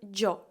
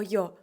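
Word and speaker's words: yo: йо також ви можете почути таку вимову як Джо Джо відрізняється вимова від частин Іспанії також від іспаномовної Країни тому Джо або йо Або можливо ви чули ще якусь вимову напишіть в коментарях ти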